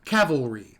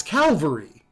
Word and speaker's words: Calvary: it all growing up i heard um cavalry the cavalry is coming but it's calvary it's got to be calvary but no everyone i